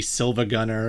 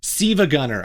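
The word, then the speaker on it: SiIvaGunner: Silva Gunner, and actually, Siva Gunner, I think is how you're supposed to pronounce it. Siva because Gunner. Apparently, and this shocked me this week, I didn't know this, like, the L is not an L, it's an I. It's a capital I.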